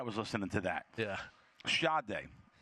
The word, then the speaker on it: Sade: Sade, and for anyone else that it's spelled Sade, Sade.